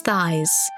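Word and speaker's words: Thais: Thias. Or perhaps Thies, but I've always pronounced it as Thias.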